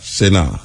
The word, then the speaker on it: Sena: Yes, it's actually pronounced Sunny, but most people pronounce it Senna, so I just let it go.